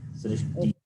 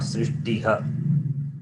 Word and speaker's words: सृष्टि: In this word, Srishti, Visarga is preceded by the letter E. Okay. Srishti being E, then Visarga is pronounced along with the preceding vowel, which is Ikara, E. Srishti, not Srishtiha. It's a wrong way to read Srishtiha.